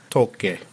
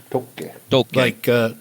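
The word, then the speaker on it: Tåke: So I've had a Norwegian tell me it's pronounced Tolke. Tolke. Like imagine like Tolkien.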